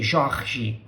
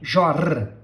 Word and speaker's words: Jorge: They say Jorge, but we say Jorge, Jorge. When I say we say, I mean we from the south and from a lot of other parts in Brazil. We don't say Jorge.